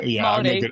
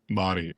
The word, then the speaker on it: Māori: Yeah, you kind of have to roll your R's a little bit. Māori. I'm Māori.